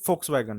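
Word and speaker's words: Volkswagen: आहे फोक्सवॅगन म्हणलेलं आहे जर तुम्ही त्याचं स्पेलिंग बघाल तर व्ही पासून होते पण जर्मन मध्ये वी च प्रोन्सिएशन जे असतं ते एफ होतं त्यामुळे ते फोकसगन आहे ओके फ बघा चिट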